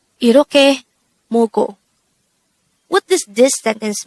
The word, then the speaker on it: 이렇게: study about the word iroke. Let's start. Learn Korean one word at a time, only here at Dae-Hangul. Word number 136. Iroke. Iroke. This is pronounced as a three-syllable word.